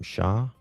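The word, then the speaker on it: Shah: This woman her name's uh is she how does she pronounce her last name? Sha. Yeah.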